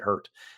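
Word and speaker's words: Hert: I think they pronounced it hurt but um Tomato.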